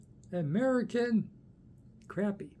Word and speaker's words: American Crappy: American crappy. It rhymes with American city. Sit- ty.